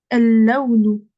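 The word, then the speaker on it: اللون: Du coup, comme la lettre là, elle a une shadda et elle est avant le lem, je prononce pas ce lem. Donc, je vais dire el-laounu.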